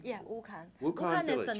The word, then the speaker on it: Wukan: Wukan. Am I pronouncing it correctly? Yeah, Wukan.